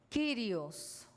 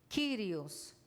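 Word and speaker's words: κύριος: señor en el Nuevo Testamento el señor es kirios k y r i o s kirios título honorífico atribuido a Jesucristo para proclamar su gloria y su soberanía sobre la historia humana y sobre todos los Cosmos kirios título honorífico atribuido a Jesucristo para proclamar su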